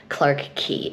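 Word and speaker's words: Clarke Quay: TV working, the area itself, which I've been pronouncing it wrong this entire time and I'm so embarrassed, it's technically called Clark Key Area.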